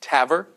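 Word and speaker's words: TAVR: valve replacement okay uh usually the acronym is pronounced Taver okay and I'm going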